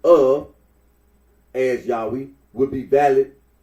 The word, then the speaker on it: Yahweh: also yahwe and yahovah the scholarly consensus that the original pronunciation of the Tet gron was Yahweh R arino agrees that